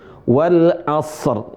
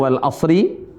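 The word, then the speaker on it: والعصر: Tapi cara bacanya rnya sukun. Wal asr. Tapi juga sebagian teman-teman enggak mau baca ri tapi hilang huruf rnya. Nah, ini juga salah. Wal asr.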